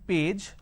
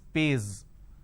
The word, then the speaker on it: page: So instead of saying page, they pronounce this as pays.